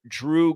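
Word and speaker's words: Jrue: Walton and also Al like Drew Gordon uh Drew holiday spells his name jru e and so his name should be jreu but it's pronounced Drew like d w but remember who died Bill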